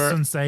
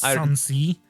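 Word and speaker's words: Sun Ce: Yeah, like, I remember, instead of Sun Se, it's Sun Si. Whatever. What did they call him? Was it Sun Si? Who? You know Sun Se? Oh, they just said Sun Se.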